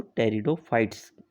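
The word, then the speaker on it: Pteridophytes: टेरिडोफाइटा की spelling को आप लोग ध्यान से देख सकते हैं कि आगे पी भी लिखा हुआ, लेकिन ये पी क्या है कि बायोलॉजी के टर्म में साइलेंट रहता है, तो इसीलिए हम लोग इसको टेरिडोफाइट्स कहते हैं।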